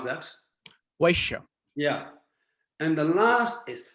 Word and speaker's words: Vaishya: How do you pronounce that? Vaishya.